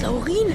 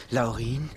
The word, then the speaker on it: Laurin: hil Hilfe du bist Laurin König der Zwerge zum tausendsten Mal es heißt nicht Laurin es heißt Laurin mit Betonung auf dem auchau ein Angriff auf